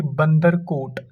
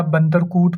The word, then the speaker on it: बंदरकोट: अब देखिए, मुरुसूद्र इसकी एक राइट विंग ट्रिब्यूटरी है, जो कि मैंने बोला था कि बंदरकोट या बंदरकूट पढ़ो, बंदरकोट पढ़ो।